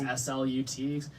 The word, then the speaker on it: slut: word is slut, because the Swedish word for the end is S-L-U-T, pronounced slut.